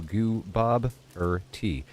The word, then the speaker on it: Gooboberti: Then Bob like the name Bob with a stress on Bob. Then like the questioner and then T like the drink of with jam and bread. So goo. Bob T.